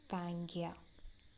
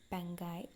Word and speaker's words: Pangaea: You can just underline this important word, Pangaea, or you can pronounce it as Pangai also.